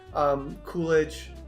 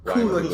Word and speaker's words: Coogler: James Gunn, Coolidge, Coogler. Coogler, sorry. Yeah, I can't pronounce his name.